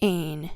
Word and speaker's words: Ein: The Zohar actually describes this light as vast nothingness, which is Ein, pronounced Ain, spelled A-I-N.